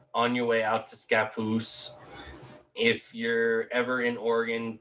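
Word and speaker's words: Scappoose: you know something different it's scapoose they they will correct you immediately every single kid that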